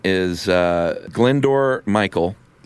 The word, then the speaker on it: Glyndwr: Um his name is uh Glyndwr Michael." Yeah, that is not how that's spelled, either.